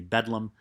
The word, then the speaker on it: Bedlam: Bedlam is just how people would pronounce Bethlehem Hospital, not Bethlehem like in Israel where Jesus was born. Bethlehem Hospital. And people, instead of saying Bethlehem, would say Bedlam in that kind of South London accent, East and South London accent, and that was the pronunciation.